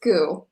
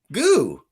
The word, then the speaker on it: Goux: forgot that's okay uh it's just goo x is silent goo pretty cool all right i like it love it even like roux yeah yeah i don't